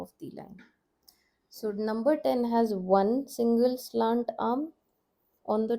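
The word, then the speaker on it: ओ: So number 10 has one single slant arm on the top and number 11 has two arms on the top. This is the difference. O is number 10. Sounds like O for orange.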